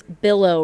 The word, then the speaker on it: Billow: It's billow. Rhymes with pillow.